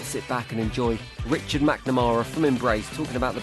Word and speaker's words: McNamara: McNamara rhymes with black banana.